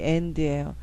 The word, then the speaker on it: and: 그 아에 해당하는 A는요 단모음일 때 에 소리 나요. 이 대표적인 게 이 and예요.